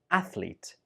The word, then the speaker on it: athlete: We pronounce it as athlete. Athlete. This word has 2 syllables only. Athlete. Some students use it with 3 syllables. Athlete, but that's not correct. It only has 2 syllables.